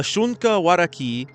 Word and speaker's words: Shunka Warakin: the shunka waraki uh it has a an i in at the end but I heard that it's just an e the N is silent but the name roughly